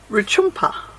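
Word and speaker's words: Rutjupma: Of course, can't show you the images of as you're driving along, but Mount Sonder, which is pronounced, I found it, Ruchumpa.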